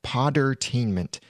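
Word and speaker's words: Podtainment: spelled p OD attainment it's just like entertainment but replace the ENT with p OD and the link for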